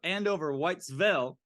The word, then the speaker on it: Andover Whitesville: I think I pronounced it wrong every single time so far. So Andover Whitesville.